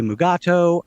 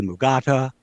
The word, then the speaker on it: Mugato: You say mugato. I say mugata.